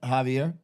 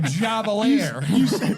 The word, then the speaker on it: Javier: You said The old Javelier. you said it right. I never met Javelin before, but J is an H for our Caucasian listeners.